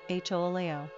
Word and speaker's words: Julio: Pronunciation, Julio.